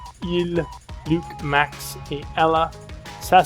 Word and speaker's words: ils: So, il et elle, et tu prononces pas le S. So, the S is not pronounced. It's just il, and there's an S there. You see that it's there, you can't hear that it's there. You don't say ils, you say il.